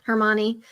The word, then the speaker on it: Hermione: Hermione.